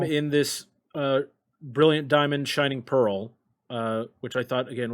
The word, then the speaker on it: Shining Pearl: name wrong for correct we got shiny shiny pearl but it's shining pearl yeah uh so sorry